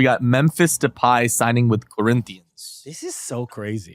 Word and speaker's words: Corinthians: this is so crazy it's Corinthians by the way all let's give them the respect they deserve for pronouncing in a way you would have never expected shouts to the Portuguese my main obviously the